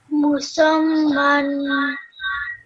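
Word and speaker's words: مسمى: Because of the shadda, you have to do the seen and the meme with a bit of force.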